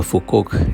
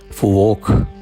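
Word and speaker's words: Phú Quốc: മറ്റു പല ഐലൻഡുകളും ഞങ്ങളുടെ ഗൈഡ് ചൗ പറഞ്ഞതനുസരിച്ചുകൊണ്ട് ഫുക്കോക്ക് എന്നല്ല പറയേണ്ടത് ഫുവോക്ക് എന്നാണ് യഥാർത്ഥ അതിന്റെ ഉച്ചാരണം എന്നാലും പറഞ്ഞ് ശീലിച്ച ഒരു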